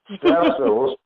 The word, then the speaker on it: Stephstaa: Stephstaa. Yes, I like saying it like that. Because that's Bernie Mac, you know what I mean? You got to say it like Bernie Mac said it, Yeah.